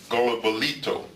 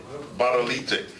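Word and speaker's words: Gbadolite: We went to his hometown, if I'm saying it right, Golobolito. How do you say it? Badolite.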